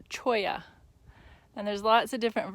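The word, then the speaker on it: cholla: some sometime so this is spelt but it's pronounced Choya and there's lots of different varieties of Chia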